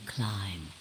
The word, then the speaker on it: Klim: Sigma Climb. Although Climb, to the okay. you that's behind it now, it's your face 45 years from now. Zero, the mastermind of the AB project. It's actually pronounced like climb, but that's cement.